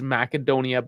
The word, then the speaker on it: Macedonia: __ ] this up it is macadonia because in that language the C's are hard and they're said like